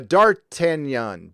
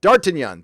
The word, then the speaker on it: d'Artagnan: from the three musketeers it's pronounced oh I'm sorry dart to d'Artagnan d'Artagnan thank you d'Artagnan d'Artagnan see I